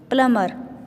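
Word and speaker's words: plumber: प्लंबर आगे है देखिए डिड you know प्लंबर is pronounced as प्लंबर बी is silent in this word जो प्लंबर होता है उसमें जो बी होता है वो साइलेंट होता है तो उसकी प्रोनंसिएशन कैसे होगी कैसे प्रोनाउंस करेंगे उसे प्लमर ठीक है तो बी साइलेंट होगा आगे है पीपल हु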